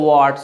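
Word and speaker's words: word: So that's the moment you ক্যান say keep your ওয়ার্ড। সো আরটা কি বলবেন, silent. In America আরটা উচ্চারণ করবে, ব্রিটিশ পিপল ওরা আরটা উচ্চারণ করবে না, সো ইউ ক্যান সে the keep your ওয়ার্ড, okay.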